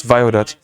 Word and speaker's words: Phloxae: Tugi saying the pronunciation is Violet. Oh yeah, the pronunciation of Phloxae definitely is Violet.